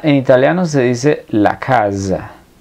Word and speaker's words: casa: italiano se dice la casa la s intervocálica una s que está en medio de dos vocales suena entonces la casa en español italiano la